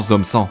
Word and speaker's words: Zom 100: Et c'est justement dans cette perspective que j'ai été agréablement surpris en découvrant Zom 100. Ouais, maintenant on le prononce à la française, ouais.